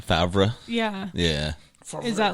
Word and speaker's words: Favre: 20 years all right his last name is spelled different than how everyone says that favre yeah yeah is that